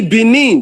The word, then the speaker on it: Benin: The Benin that is spelled B-E-N-I-N, it's not B-E-N-I-N, it's called B-I-N-I. Benin.